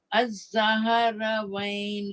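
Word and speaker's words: Azzahravaen: में आपको बताया, तो इन दोनों को मिलाकर अज़्ज़हरवैन कहा जाता है। इसको प्रोनाउंस करना बहुत मुश्किल।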